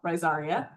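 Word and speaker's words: Rhizaria: Pronounce every vowel. Risaria.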